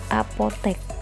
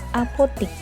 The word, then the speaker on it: apotek: Kata baku apotek ditulis menggunakan huruf E, apotek. Sementara kata tidak bakunya adalah apotik.